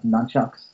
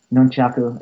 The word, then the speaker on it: nunchaku: I I'm a big fan of uh nunchucks uh nunchaku if you want to, you know, pronounce it the right way.